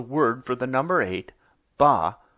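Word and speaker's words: 八: for the number eight ba rhymes with the word for Prosperity fa it was such a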